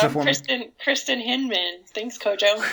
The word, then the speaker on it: Kristin Hinman: Can you pronounce it I'm for me? Kristin Hinman. Thanks, Kojo. Kristin Hinman.